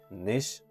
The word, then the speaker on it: niche: You can say niche. Also, you can say niche. In American pronunciation, we pronounce the word as niche.